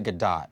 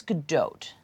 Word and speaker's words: Gadot: one okay next up gal gadot or is it good dot some people say differently I think it's good dote I think that's how she pronounces it with a hard T right yeah gal gadot